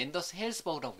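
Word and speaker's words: Anders Hejlsberg: 저는 이제 앤더스 헬스버그라고 해요.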